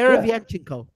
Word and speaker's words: Derevyanchenko: Derevyanchenko. Derevyanchenko. Well, Dera Vyanchenko. Vyanchenko. Yeah, Derevyanchenko. yeah, that's right.